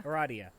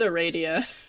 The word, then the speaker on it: Aradia: of things how is that eradia radio yeah eradia okay i always pronounce it a radio radiation irradiation humor ga okay and this is